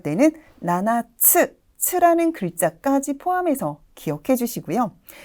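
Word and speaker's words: 七つ: 아, 발음도 너무 귀엽네요. 나나, 나나라고 하는데요. 7개라고 할 때는 나나츠, 츠라는 글자까지 포함해서 기억해 주시고요.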